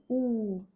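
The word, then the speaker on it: ऊ: Now the sixth one is ooh. Now we note down the long sound for this wobble. Long double o sound.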